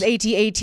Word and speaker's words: AT-AT: I go either way, AT-AT, AT-AT. I tend to say AT-AT, but with the military, you tend to pronounce the words in the terrestrial world. But with Star Wars fans, there's definitely a division between who says what. I think both are okay.